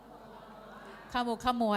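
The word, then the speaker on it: ขมุกขมัว: สร่ง ปาเต๊ะ นะ ฮ คำ นี้ ออก เสียง ว่า ยัง ไง ขมุก ขมัว หรือ ขมุก ขมัว ขม ขม ขมุก ขมัว นะ ข ม อุ ขม อุ คำ ข ม อุ ขมุ อย่า เพิ่ง ขโม อะไร ขมุ ข ม อุ ขมุ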